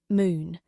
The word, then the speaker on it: Moon: Moon. It meant gate in Korean, pronounced closer to Moon.